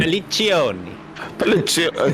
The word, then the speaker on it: Pelliccioni: we're on with a Persoloni or Pelliloni. I'm not going to pronounce that name. Pelliccioni. Giovanni. There you go. How are you, Giovanni? You gotta give it the Italian oomph, the little bit extra.